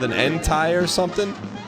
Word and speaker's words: Entei: Yeah, it's called an Entei or something. Entei.